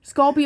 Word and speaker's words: Scorby: Scorby is pronounced Scorby. There's no Ellen.